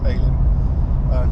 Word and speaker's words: Elim: Highly recommended Cooktown, and going out to Alien Beach, which is spelled Elim but apparently pronounced Alien.